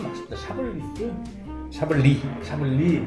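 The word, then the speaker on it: Chablis: 샤블리 뒤에 S는 또 발음이 없어. 샤블리. 나는 와인의 문외 아닌데 와인 모임을 가.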